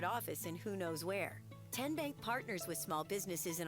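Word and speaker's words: TN Bank: How do you say the name? Kien Bank? Nope. Kin Bank. Uh-uh. So, what is it? Tenbank. 10 as in Tennessee.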